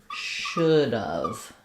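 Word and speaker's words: should've: It sounds like should have, should have. So we don't have any a vowel. Once we contract it, we lose both the h and the a. And the ve just sounds like of.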